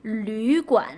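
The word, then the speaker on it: 旅馆: So it's pronounced as U. U, remember, it's Wu. It's a mouth shape of a Wu, but with the E pronunciation. Yu, Lü Guan, right?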